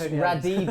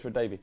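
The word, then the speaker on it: Radebe: Lucas Radibi. He didn't know Tony. I said his name wrong. Lucas Radabi.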